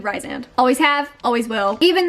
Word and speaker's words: Rhysand: Like, for example, in ACOTAR, you guys say Rhysand. I call Rhysand Rysand.